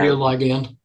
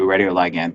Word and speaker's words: radioligand: I don't know how to pronounce that word. John, can you guys see that in there? Radioligand. Thank you. Radioligand.